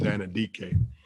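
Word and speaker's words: Anudike: I'm always mispronounce his name, is Anindike, and he has really been impressive.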